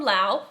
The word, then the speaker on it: Laos: So someone from Laos, which by the way, we started off calling it Laos or Laos, and then some of you guys were like, it's Laos.